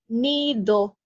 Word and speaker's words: nido: it's very hard, but in Spanish you say nido, so it's like, I don't know how to. Do you know how to explain like how you pronounce you put de? your tongue in front of on the back of your central teeth. And you very softly make the sound nido.